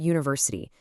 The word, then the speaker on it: university: Take the word university. It starts with a letter U, which is a vow. But what's the first sound you hear? It's U.